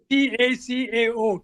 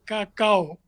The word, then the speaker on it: cacao: C-A-C-A-O, cacao. It's pronounced Okay.